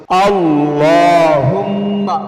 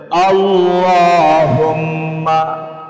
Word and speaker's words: আল্লাহুম্মা: আল্লাহুম্মা বলতে হবে। একটু কষ্ট করে হলেও বলেন আল্লাহুম্মা সাল্লি আলা মুহাম্মাদি ওহামহু